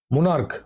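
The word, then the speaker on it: monarch: মোনার্ক। দেখো কয়ের মতো সাউন্ড আসছে।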